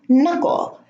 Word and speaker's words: knuckle: knock, null, not, need, knuckle. Now, the K is at the beginning of the word and is followed by an N. Okay, so the K here in all of these words is silent.